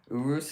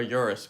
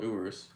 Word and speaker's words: Urus: Urus is actually how you pronounce it, by the way, for anyone who doesn't know. For some reason, a lot most people call a Urus, but it's actually called Urus water.